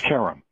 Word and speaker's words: Karam: right half the time it's pronounced carrom carrom okay and I'm told that that's an Americanized mispronunciation of the original but it works for us okay welcome it's